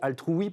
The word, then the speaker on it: Altruwe: Ça se dit Altrui parce que c'est l'idée de dire oui à l'altruisme.